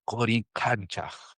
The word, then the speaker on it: Coricancha: And for tomorrow or the day after tomorrow, we visit Coricancha, but it's Coricancha. It's like the real pronunciation of the Quechua language.